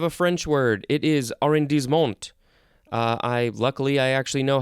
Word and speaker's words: arrondissement: It is arrondissement. Luckily, I actually know how to pronounce that one.